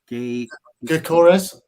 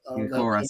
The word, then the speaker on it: Gyökeres: But for me, and I know the Coventry striker, how do you pronounce his name? I know who you're talking about. It's Gyökeres. Gyökeres, yeah.